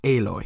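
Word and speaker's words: Aloy: by the name of alloy which sounds a lot like alloy which is kind of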